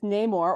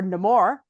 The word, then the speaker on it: Namor: I think with with Namor or no more is now the proper pronunciation for it but I think Marvel